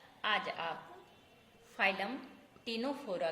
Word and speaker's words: Ctenophora: देखो यहाँ टिनोफोरा है लेकिन सी साइलेंट है।